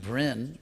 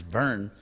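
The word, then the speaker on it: bhṛn: So he says, Bhuta Bhren, this word which would be pronounced Brin, but actually the real pronunciation is burn. It's like the English word burn.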